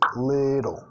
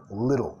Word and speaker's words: little: Nota little, pronunciación estadounidense, canadiense, vamos a decir little, little, con la R suave ahí.